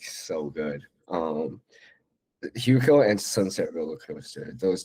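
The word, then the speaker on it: HYUKOH: I listen to this band, this Korean band Kahuko a lot. Um, uh, it's spelled H Y U K O H. They're like this indie band based out in South Korea. They're like so good. Um, Huo and Sunset Roller Coaster.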